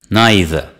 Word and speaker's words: neither: naught C the stress is on the first syllable repeat after me Nazi Nazi neither neither nie the neither the stress is on